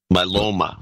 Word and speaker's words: myeloma: Myeloma is the way it's pronounced. Myeloma, is that how you pronounce it?